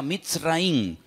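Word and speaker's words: מצרים: país de Egipto que en la Biblia se pronuncia mitz raí se escribe al principio con una letra men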